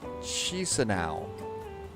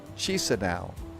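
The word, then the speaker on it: Chișinău: It's Katowice and it's Chisinau. All right, hang on. You know what I need to do? I'm going to copy those pronouncers over right now. Okay, so it's Katowice, and Chisinau.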